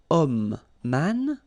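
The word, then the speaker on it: homme: not pronounced okay so you've got the sound of O at the beginning of this word okay set so that's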